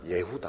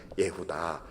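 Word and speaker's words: יהודה: 번째에는 유다라고 이렇게 지었는데 원래 발음은 유다가 예후다 합니다 히브리 말로는 예후다 찬송하리로다 이렇게지었습니다 우리 교회도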